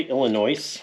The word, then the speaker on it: Illinois: Do you say Illinois too? The S in Illinois is silent for, you know, if you don't know that.